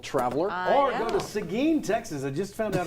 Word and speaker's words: Seguin: Seguin, by the way, ladies and gentlemen, Seguin, Yeah, Texas. spell it for us.